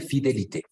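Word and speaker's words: fidélité: Exacto, entonces la vamos a pronunciar fidelité.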